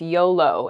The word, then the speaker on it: YOLO: Next is really, spelled YOLO, but it's usually read as a new word. It's pronounced YOLO, and it stands for you only live once.